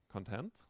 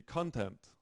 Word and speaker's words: content: a string of English because some words actually that have um the same orthography have different pronunciation um depending on their part of speech so um content I am content I hope you are content with the content of today's lecture so the adjective has a different stress pattern from